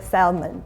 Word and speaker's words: salmon: Kong we say salmon I'm the only one who doesn't pronounce the L and so but even in the country dialect you could still choose if you want to say the L or not it's like a